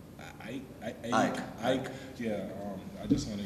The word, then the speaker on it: AEK: How do you officially pronounce it? I want to make sure it's right. Ike.